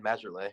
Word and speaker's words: Majerle: Charles Barkley and Dan Majerle, or however you pronounce his name. Ellis, how do you pronounce his name? Marley, it's just Marley.